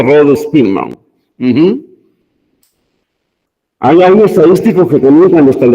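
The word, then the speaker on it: Rho Spearman: Se escribe con R minúscula H-O, y se escribe, ¿no? Como Spearman, y se pronuncia Rho-Spearman.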